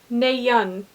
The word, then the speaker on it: Nayeon: This color is called Neyun. I think I'm saying that right. And it says pronounced Neyun. It has it broken down, so I think I'm saying it correctly.